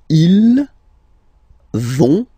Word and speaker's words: vont: So, ils vont, final T, not pronounced. Ils vont.